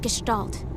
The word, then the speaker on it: Gestalt: rescue plan called Project Gestalt it has a hard G damn do you still